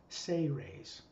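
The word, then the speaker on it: Seres: Even though it's spelled S-E-R-E-S, phonetically it's pronounced as if it's spelled S-A-Y-R-A-Y-S. Ceres.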